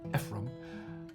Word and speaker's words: Ephraim: Ephraim, pronounced Ephraim, is a pretty summer colony on Green Bay.